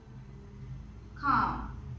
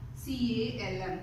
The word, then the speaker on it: calm: Then calm, C-A-L-M, calm. So what's the sound? K sound. Okay. R-M, calm. Can you see it? No L sound. Okay. It's very silent there.